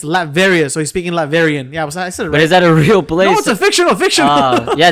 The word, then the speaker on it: Latveria: So kind of like one of those like Lat variant. Latvarian. Is that a mix of Latin and variant? It's a real place? Latvia. No. It's Latveria.